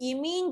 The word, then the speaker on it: imine: तो इमीन जो केस है, मतलब IMINE इमीन होता है, जैसे एमोनिया है, ठीक,